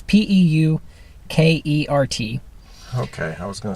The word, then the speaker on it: Peukert: So the only thing that affects what I just said is something called the Puker Effect. I never saw a pronunciation, but it's Peukert.